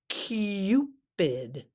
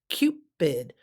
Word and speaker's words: Cupid: next vocabulary word is cupid cupid not Cupid but Cupid it's got the you Cupid it's a mythical figure